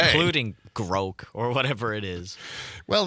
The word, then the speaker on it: grok: Pronounced like broke. Oh, it's groke. It is? Really? Is a reference to the novel Stranger in a Strange Land.